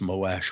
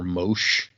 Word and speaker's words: Moash: I thanks, I guess, Moash. Appreciate it. I I I heard some debate about whether it's pronounced Moash or Mosh, and I was just like, I can't imagine saying Mosh Mosh.